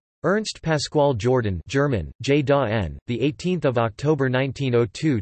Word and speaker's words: Jordan: The family name was eventually changed to Jordan, pronounced in the German manner, J-da-N or J-da-N.